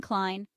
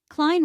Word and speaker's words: Klein: Ren Calvin kleene Calvin Klein Klein rhymes with line Tommy hillfiger Tommy hillfiger